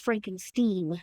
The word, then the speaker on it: Frankenstein: It's pronounced Frankenstein because he should because he stigma of his grandfather.